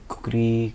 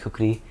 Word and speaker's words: kukri: I believe I did dong, and I also did the kukri, katar, tal katar, and tal kukri fight is what I did. Tal kukri fight. Could you explain about the kukri? Kukri is what it's pronounced.